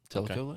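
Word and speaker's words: Tellico: year in a Bassmaster Classic in Fort Louden Telo lake is that how you say it yep Telo Lake Y and we got his name right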